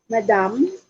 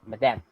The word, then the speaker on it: madame: You're going to actually pronounce it as madame with an E. Okay, so instead of A beside the D, so that would be E, madame.